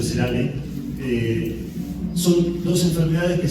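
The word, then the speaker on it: Nosema ceranae: ¿Se acuerdan que yo les hablé de dos especies, no semais y noema cerane, que se escribe en Cana, pero se pronuncia Cerame?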